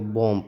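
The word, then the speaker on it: bomb: इस बात को देखिए, जैसे एम के जस्ट बाद आ गया बी ओ एम बी, बॉम्ब होना चाहिए नहीं, लेकिन यहाँ पे एम क्या है, साइलेंट है तो इसको बॉम्ब पढ़ेंगे।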